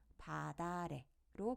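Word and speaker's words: 밭 아래: 팟 아래라는 단어가 있습니다이 단어는 어떻게 발음하면 될까요네 바다의라고 발음합니다 밭 뒤에 아래라는 모음으로 시작하는 실질 형태소가 왔으니 호받침 티읕을 음절의 끝소리 규칙을 적용해 디귿으로 바꾸어 줍니다 그다음 디귿을 뒷말에 첫소리로 연음합니다 그럼 최종적으로 바다래로 발음되는 것이죠 이처럼 호받침이 모음으로 시작하는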